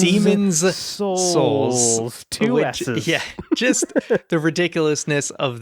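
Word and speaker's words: Demon's Souls: out and it does make sure you say it right demons demons souls yeah just the ridiculousness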